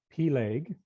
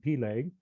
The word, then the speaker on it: Peleg: But also, his first name was either Peleg, as some pronounce it, or Peleg, as you hear it in some areas, or just different emphasis on the syllables in the way that it's pronounced. But for our purposes, I like to call him Peleg.